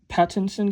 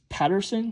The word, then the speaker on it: Pattinson: Because I used to thought like it was Patterson because everyone says Patterson, but when I see how it's spelled, it's Pattinson.